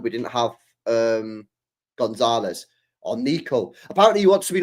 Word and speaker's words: Nico: He wants to be known as Nico, pronounced Nico.